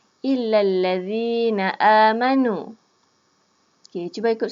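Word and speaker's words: إِلَّا الَّذِينَ: walau Innalillahi sanalah khusus innalladzina a manual sini di sini ya selalu murai tersilap Hai Adit ukare alif lam ini dengan elemen Nah Tapi bacanya sebenarnya ialah Ilal ladzina amanu Ayo kita coba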